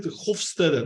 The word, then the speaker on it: Hofstede: about the pronunciation, and they call it Hofstede, not with sh but with s.